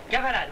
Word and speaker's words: Cavalade: Cavalade, oui, c'est ça, comme ça se prononce.